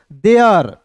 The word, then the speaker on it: there: को क्या पढ़ेंगे दोस्तों, देयर। THE का उच्चारण दोस्तों यहाँ देखिए, TH का उच्चारण यहाँ पे थ के रूप में नहीं करेंगे दोस्तों, यहाँ पे TH का उच्चारण द के रूप में करेंगे।